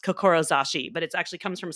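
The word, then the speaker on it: 志: And the top one is actually a standalone word that's pronounced kokorozashi, but it actually comes from samurai and heart.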